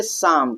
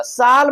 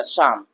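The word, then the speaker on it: psalm: आ यहां पर देखिए एल कहां आ रहा है? यहां पर भी एम से पहले आ रहा है। एम से पहले आ रहा है। तो यहां पर हम क्या पढ़ेंगे? शाम। क्या पढ़ेंगे भैया? शाम।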